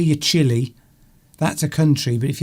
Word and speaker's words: Chile: The spelling is different, but the pronunciation is the same.